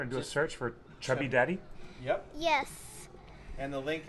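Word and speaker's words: Chubby Daddey: How do you pronounce it then? Chubby Daddy?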